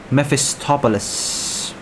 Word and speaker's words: Mephistopheles: guys can't pronounce it it's pronounced mephistopolis yes that's how we